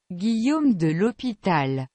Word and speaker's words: Guillaume de l'Hôpital: I actually pulled this up on Google Translate so we can learn how to pronounce it. Guillaume de l'Hôpital.